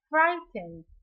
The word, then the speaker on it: frightened: Frightened. These two letters are silent letters.